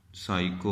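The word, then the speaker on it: psycho: जैसा कि पी एस साइको होता है एक लफ्ज़, अब ये साइको है।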